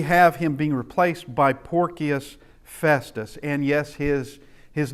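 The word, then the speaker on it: Porcius: that but that is C's in Latin are pronounced as K's and it does look like porus and uh if you don't want to get into the porky discussion you just pronounce it porus and go on uh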